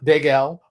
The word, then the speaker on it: Dagel: Adam Dagel, rhymes with Bagel, is coming on the show, and we're going to talk about fun stuff.